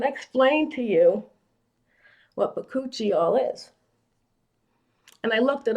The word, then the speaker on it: Bakuchiol: It's pronounced Bakuchiol, if you've ever heard of it.